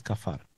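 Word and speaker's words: כפר: dentro y por fuera la palabra que viene ahí que no pude pronunciar es cafar en hebreo es cafar cubrir Sí y cafar o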